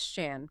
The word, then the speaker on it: Shan: And just a quick note for you, his name is Shan, pronounced just like you'd say Dan or Stan.